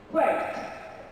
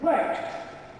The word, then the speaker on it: worked: Worked. The ED here is pronounced as a T. So it's worked.